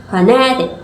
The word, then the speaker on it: phonetic: The primary stress is on the second syllable, phonetic, giving the word its main emphasis.